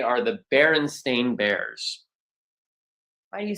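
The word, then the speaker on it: Berenstain: Because most people think it's the Baronstein or the Baronstein because a lot of people believe wholeheartedly that it is st i n at the end, but it is not.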